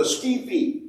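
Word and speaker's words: скіфи: And they will say, we were the Scithi. That's how they pronounce that word.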